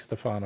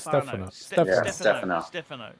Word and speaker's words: Stefano: He doesn't like Stefano. It's Stefano. Stefano.